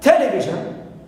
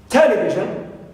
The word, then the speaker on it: television: Example, sometimes they may pronounce the word television as television. Television. They stress the first syllable, ta. But other times, they may pronounce it television. Television. And they stress the syllable V.